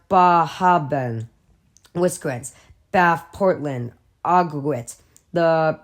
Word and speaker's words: Bar Harbor: magic names keman Rockin Bar Harbor pronounced baben whis bath Portland AIT